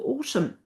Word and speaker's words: autumn: And then that silent n on the end of autumn.